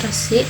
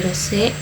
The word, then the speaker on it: resik: Sedangkan suara i miring dibacanya e. Contohnya resik dibacanya jadi resik, batik, dan pitik.